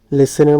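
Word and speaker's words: listen: আমরা অনেকেই মনে করতে পারি যে স্যার এখানে তো একটা টি দেখা যায়, এটা কি হবে, আসলে টিটা এখানে সাইলেন্ট থাকবে, উচ্চারণ হবে না, ঠিক আছে, লিসেনের মধ্যে টিটা উচ্চারণ হয় না।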